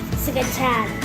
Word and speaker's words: scacciata: Scacciata. Say it like real Italian, like Scacciata.